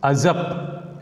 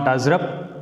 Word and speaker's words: usurp: You may azap. It's not azrap. Azap. R is silent here.